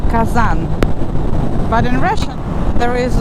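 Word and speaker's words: Казань: It's a very interesting letter because it doesn't have a sound. What it does, it makes the last letter softer. So in case of Kazan, in Russian you pronounce it as Kazan. A nice soft ñ. Kazan. And if you say Kazan, it actually means like a big cooking pot.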